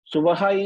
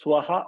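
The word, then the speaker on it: स्वः: Suvaha is pronounced as Swaha also. Because Suvara and Swara both are same.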